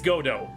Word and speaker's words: Godot: It's Godo. Godo is one of the accepted pronunciations.